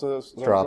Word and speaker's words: Straub: So Patrick Straub, have I pronounced Straub, right? Yeah. That's Straub, right, okay.